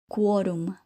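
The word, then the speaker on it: quórum: Notice how quo is pronounced differently. If we said co, we would be using the combination of C plus O. Now, listen to the examples with Q. Queso, quizás, quorum.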